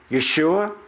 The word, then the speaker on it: Yeshua: not only that but Jesus as a code can be pronounce Jesus hey soos Yaesu Yeshua or it can be